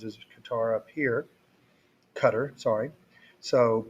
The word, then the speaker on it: Qatar: with the women 42 illiterate women and 251 katara women i didn't write that because we'd already defined those as a qatar up here cutter sorry so p w p hat is 0.17